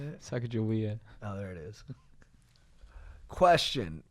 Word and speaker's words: Sacagawea: Sacagawea.